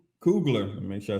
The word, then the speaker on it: Coogler: Ryan Cougar, Coogler.